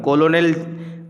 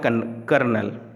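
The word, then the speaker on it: colonel: यहाँ पे लिखा हुआ है कर्नल, एक्चुअली में ये कर्नल लिखा हुआ है, कोलोनेल अपन ऐसा इन जनरल पढ़ते हैं, लेकिन वो है कर्नल।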